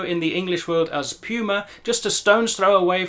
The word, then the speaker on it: Puma: the same meaning, but the brand name and the animal are both pronounced in German Puma. Puma.